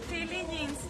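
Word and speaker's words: Feelings: Amiga, ¿me puedes comentar cómo se llama la tienda, la pronunciación correcta? Philly Jeans.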